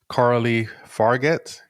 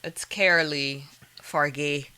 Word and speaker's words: Coralie Fargeat: With the director Carly Fargett. I probably mispronounced that. It's Carolee Fargay or something like that. I don't know. We don't speak French.